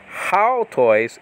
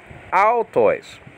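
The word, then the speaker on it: αὐτοῖς: Now altois is spelled out alpha upsilon with the soft breathing. So it's not haltois, it's altois. Now, some of these diphthongs have different pronunciations in modern Greek, okay? I'm not talking about modern Greek, I'm talking about biblical Greek. So it's ow. The first two vowels are making an ow sound, okay?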